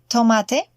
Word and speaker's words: tomate: Note that the pronunciation of the T is quite different from English. It's not tomate, but tomate.